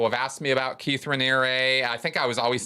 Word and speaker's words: Raniere: I think I was saying Renier or Renier or something. Anyway, Raniere, Raniere.